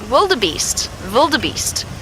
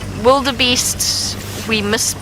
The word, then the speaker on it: wildebeest: Wiem, which is spelled W-I-U-M, Wiem, and then wildebeest is another really good one. Yes, in Afrikaans, that is the way in which you pronounce it. Sometimes wildebeest we don't pronounce properly, wildebeest.